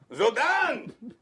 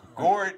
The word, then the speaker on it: Guordan: Guordan Banks.